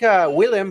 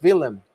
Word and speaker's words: Willem: I used to think Willem, but it's Willem. Willem, yes. Willem. Yes. Because Netherlands pronunciation has to be a little. I gotta get used to the W's here.